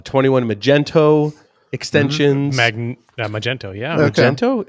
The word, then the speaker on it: Magento: Yeah, Magento. Is it Magento? Not Magneto. Yeah, I thought it was Magneto. Magneto. I like Magneto. Magneto. There's a Magneto. It really is Magento.